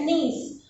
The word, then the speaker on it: knees: नीज में जो K है वो साइलेंट है, इसकी स्पेलिंग KNEES है, पर हम इसको पढ़ेंगे क्या? नीज. K का प्रोनाउंसिएशन नहीं करेंगे.